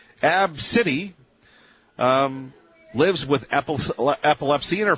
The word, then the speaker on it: ABCDE: Yes, that is the child's name, pronounced Absidy. Absidy lives with epilepsy, and her family pre-boards the flight.